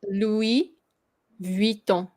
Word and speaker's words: Vuitton: And then you don't pronounce the V, right? Do you? Yeah, you do. Yeah. Yeah. Louis Vuitton. So it's like two. I mean, it's kind of like V, and then it's liaise at the same time. Ton. Vuitton. So it's two syllables.